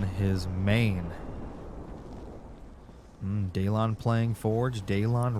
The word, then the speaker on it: Daylon: Daylon rhymes with Kalon.